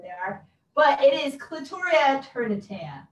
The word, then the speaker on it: Clitoria: It is not clitoris, it is clitoria.